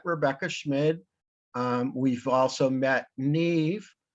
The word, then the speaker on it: Niamh: We've also met Niamh, and her first name is not spelled anything like it's pronounced.